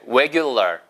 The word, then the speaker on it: regular: 입술 동그랗게 모아서 해보세요. re 해보세요. 이게 안 되시면 왜 안 되실까요? 이렇게 한번 생각할 때 왜로 해보세요. 보세요. regular. 거기다 R을 살짝 얹는 거예요. 얹혀보세요. regular에서 regular. R만 살짝 낸다는 느낌으로 regular.